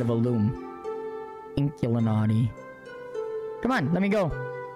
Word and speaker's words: Inkulinati: never say it right it's like Illuminati but with ink instead of alom inkulinati come on let me